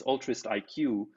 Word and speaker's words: Altruistiq: And so, we kind of spell it altruist with altruistic with a Q. It's altruist IQ.